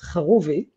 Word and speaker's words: Charuvi: I know my name is a little bit weird to pronounce, the correct pronunciation is Charuvi. I think only Israelis and Dutch people can do that, or anyone from the Middle East, to be honest.